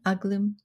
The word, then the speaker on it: Angoulême: Angoulême.